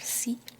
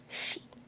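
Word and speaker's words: し: So we have sa, and as you'll see here, if you remember from katakana, we don't have si, we have shi. Alright, sa, shi, su, se, and so. Sa, shi, su, se, and so.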